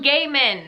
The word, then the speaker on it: Gaiman: In August, we're beginning Halloween, starting with Coraline by Neil Gaiman. I've been saying it wrong my whole life. Neil Gaiman. Gaiman. Not Gaiman. Gaiman. Right? Right?